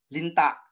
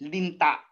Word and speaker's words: linta: Kasi po, pag bibigkasin ko ito ng malumi, linta. Linta. Mabagal po. Tapos mayroong impit na tunog. Pero ang bigas po talaga dyan ay linta.